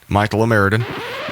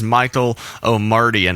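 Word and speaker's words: Michael Omartian: Reminiscing was arranged by Michael O'Meridan. I am so sorry. That is not how you pronounce his name. His name is Michael O'Mardian.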